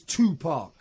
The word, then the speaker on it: Tupac: The correct pronunciation is Tupac. Tupac.